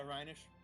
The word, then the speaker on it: Rhenish: Rhinish? Yeah, Rhenish.